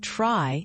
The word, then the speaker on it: trie: A try, pronounced try, is a specialized treelike data structure used to store collections of strings.